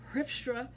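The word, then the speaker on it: Grijpstra: it like an american but they pronounce it with the g as an h so it's hrifstra and here d here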